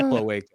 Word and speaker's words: cloaca: It's pronounced cloaca.